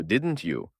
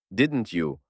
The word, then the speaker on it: didn't you: не жила там і Зверніть увагу на вимову блоку didn't you у якому звук те перетворюється на ч Через наступний звук U і тому didn't you звучить get the money Хіба